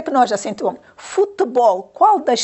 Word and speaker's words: futebol: A seguir temos a palavra futebol. Onde é que nós acentuamos? Futebol. Qual das sílabas é lida com mais intensidade? Futebol. Já viram? Onde é que nós vamos acentuar, meninos? Então, na última sílaba.